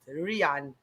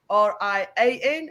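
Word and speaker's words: Riaan: And it's pronounced Rian. R-I-A-N and R-I-A-A-N.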